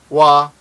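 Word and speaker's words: は: fingers are right there, that can be pronounced wah. I mean, it can be pronounced wah or ha depending on the situation. If you pronounce it wah, it's a subject marker and you're pointing to the subject like watashiwa. If you pronounce it ha, it's probably part of another word like um now of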